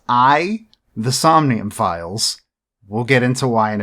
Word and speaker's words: AI: The Somnium Files: may read the title and think isn't it a.i the somnium files no it is pronounced i the somnium files we'll get into why in a bit it